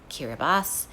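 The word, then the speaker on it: Kiribati: What's pronounced kirabas?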